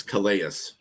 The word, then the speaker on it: Calais: You do pronounce the CA Prim property. It's Calais.